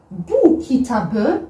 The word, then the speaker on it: kitabı: Donc, le P est devenu B. Par exemple, dans le cours sur le après et le avant, qu'on a vu kitap, parce que kitap, ça s'écrit avec un P à la fin. Kitap. Comme vous le voyez, il y a le P. Quand on a pris bu kitabı, on a pris comme ça, bu kitabı.